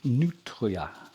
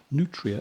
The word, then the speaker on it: nutria: They're called nutria. I don't know whether that's a good pronunciation. Nutria, as in like it's nutritious.